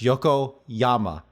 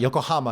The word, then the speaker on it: Yokoyama: Yoko oh my gosh Yoko Yama not Yokohama yokoyama and okay it's with